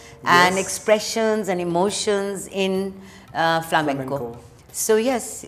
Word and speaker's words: flamenco: Pronunciation is not flamenco. Flamenco, flamenco is, you know, the Spanish gypsies, they took the influence of Kathak, raw Kathak, from Rajasthan and traveled.